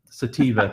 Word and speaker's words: sativa: and the other ones call seppia sateen vodka sativa thank you I say it wrong every time